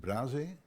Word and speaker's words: Braže: I think you pronounce it Braže, that's correct?